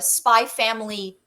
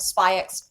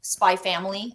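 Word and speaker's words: Spy × Family: and it was all spyx Spy family I guess you don't pronounce the X I've been doing it wrong this whole time that theme it was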